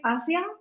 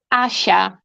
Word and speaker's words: Asha: Isn't it Asia? Uh, no, it's Asha.